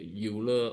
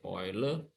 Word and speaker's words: Euler: this uh this uh the uler or the oiler okay pronunciation the right ones be the oiler Oiler meod for OD